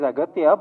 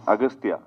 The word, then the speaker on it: Aghathiyaa: only no it is aatya but in the film uh your name is pronounced in different ways austa yeah in both ways it is pronounced it yeah it's aatya and also austa so I don't know